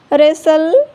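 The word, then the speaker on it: wrestle: Often, listen, कासल, रेसल, soften, Christmas. ई silent, ई कब silent होता है?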